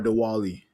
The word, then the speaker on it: Diwali: Diwali, the Hindu Oh, festival of Diwali. light. Oh, okay. Well, Yeah. happy is Diwali or Diwali?